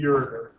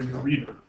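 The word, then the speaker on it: ureter: and then into to the urer or the urer however you want to pronounce it both are acceptable so as you can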